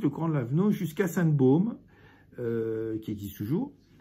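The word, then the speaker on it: Baume: grand laavenau jusqu'à sa Baum qui existe toujours qui est s'écrit ba B a m il y a pas de c'est pas comme un Baum le sa Baum qui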